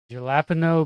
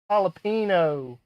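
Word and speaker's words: jalapeño: Gelapino. Booting. Gelapo. I don't know. Jalapeno.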